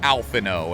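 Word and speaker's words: Alphinaud: out the oh and because you know the French and they're like nope it's just alphano and I was like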